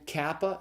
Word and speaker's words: kappa: So it's iota, and then kappa, it's the K sound. So kappa is pronounced like the K in kitchen.